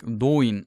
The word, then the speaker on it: Dáin: Some of the dwarves lived here and formed hordes, like Dóin, Ironfoot. I use the Old Norse pronunciation here.